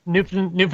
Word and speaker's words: Newfoundland: newfoundland newfoundland newfoundland newfoundland i try to say it like they would say it right it's newfoundland it's not newfoundland like most americans hey it's a new land we found look look at that it's new and it's found it's sound it's new oh hell come